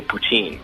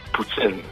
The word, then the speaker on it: poutine: But actually, the argument, they're both true. Like, in English, you say poutine. Yes. That's how it's said. Poutine. But in French, like us French Canadians, we say poutine.